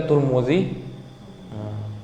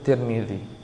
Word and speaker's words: Tirmizi: Kadang Tirmizi dibacanya juga Turmuzi, kadang juga dibacanya Tarmizi. Tapi yang sering kita baca di hadis itu Tirmizi.